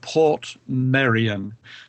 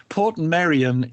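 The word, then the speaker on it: Portmeirion: of Wales there is a wonderful place called Port Maran Maran by the way is spelled m e i r i o n Port Marian is the creation of a really offbeat crazy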